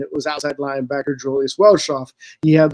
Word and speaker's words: Welschof: That's pronounced Welschof. Yeah, it's exactly how it's pronounced.